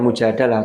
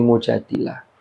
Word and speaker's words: Mujadilah: ini dengan Surah al-mujadilah Jadi bukan Mujadalah tapi Mujadilah kalau di juz 28